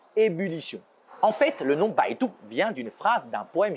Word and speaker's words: Baidu: B comme Baidu, l'équivalent du Google chinois. Bai se prononce comme bye dans bye bye. Et Du se prononce tout comme l'atout et non pas du.